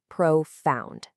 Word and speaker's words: profound: The American pronunciation is profound. Notice how the stress is right there on the second syllable.